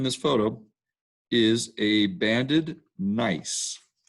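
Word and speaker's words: gneiss: photo is a banded nice now nice is spelled g-n-e-i-s-s the bands are made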